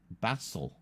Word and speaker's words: Basel: l o r and Basel is pronounced as if it has a z not Zed Bassel um Engish UK Engish